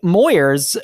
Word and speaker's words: Moyers: I'm Moyers and Moyers rhymes with lawyers that's right has a